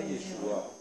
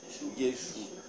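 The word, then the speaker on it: ישו: vient le mot Jésus ça vient de yesou Yes non c'est pas Yeshua c'est yesou yesou et vous savez pourquoi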